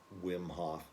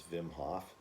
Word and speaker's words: Wim Hof: i'm pronouncing his name a lot of people say wim hof but i think in holland it's i'm pretty sure it's vim hoff he's a hot a